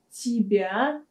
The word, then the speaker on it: тебе: Кстати, в разговорной речи мы также любим сокращать русские местоимения, такие как «тебя», «тебе», «себя» и «себе». Например, «тебе» может звучать просто как «те». «Те». «Тебе», «те».